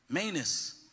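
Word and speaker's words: Manous: your name oh well tell me how to pronounce it I don't Manus okay I'll be right with you in a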